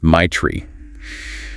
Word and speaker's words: Matra: Her name is Matra, pronounced my tree.